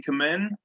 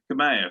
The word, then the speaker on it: Kamea: I think it's Jessie Kamen, or Jessie Coleman, or however they want to pronounce it. Kamea, thank you, who wrestled Ember Moon.